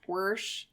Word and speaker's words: wash: Because my grandmother is from Idaho, and she pronounces wash, worsh.